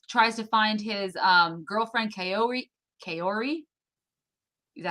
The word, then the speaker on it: Kaori: He tries to find his girlfriend Kaori. Kaori? Is that how you pronounce it?